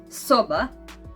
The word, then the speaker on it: soba: Then we have Croatian letter S, and Croatian word soba, which means room, and it is like S in the stop or S in the serious.